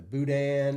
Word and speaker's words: boudin: The crawfish etouffee and just like the boudin.